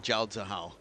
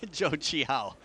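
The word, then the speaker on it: Zhou Qihao: the moment that's embarrassing Jo Chi how sorry not Jah how Jo Chi how okay you just coming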